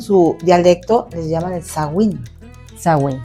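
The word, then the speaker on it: Samhain: el el uno se escribe como y se pronuncia como Sheim, pero ellos en su dialecto les llaman el Sagin. Sagn, Sagwin.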